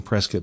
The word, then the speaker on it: Prescott: And when somebody says, yeah, I know I have to pronounce it Prescott, but I don't know why, now you know why.